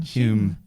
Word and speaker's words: Home: Maybe it's Home? just a posh way of saying Hume.